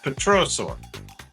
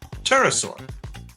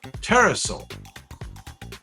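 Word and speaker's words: pterosaur: It was not a dinosaur, but a type of petroosaur. Terasaur. You don't pronounce the P. Terasaur.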